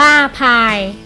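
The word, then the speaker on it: π: ได้ ดัง นี้ ซึ่ง เป็น ภาษา กรีก อ่าน ว่า ภาย ดัง นั้น ค่า พาย จึง เท่า กับ ความ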